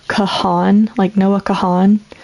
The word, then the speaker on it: Kahan: his name right, because a lot of people say Noah Kahan, like pronounce the H like that. But I think it's more of a like kind of like a pause in the A, like Kahan, like Khan, something like that.